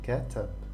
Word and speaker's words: كتب: This means that it's pronounced like a, so ka, and then katab, to write.